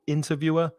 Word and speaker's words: interviewer: the next two words interviewer stress the first syllable interviewer and interviewee so the